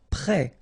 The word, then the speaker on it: prêt: Prêt. Final T not pronounced. E accent circonflexe like that phonetically gives you the E sound.